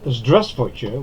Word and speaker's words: Здравствуйте: The letter V in grey in the first syllable is almost silent.